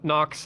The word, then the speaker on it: Knox: like Equinox no no nox as in K there's a K in there yes k n o x he's he's very